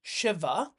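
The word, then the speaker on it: Śiva: view you can say the s you see at top over there is pronounced as an sh so it is actually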